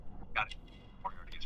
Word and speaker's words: Moriarty: Moriarty is pronounced R-T.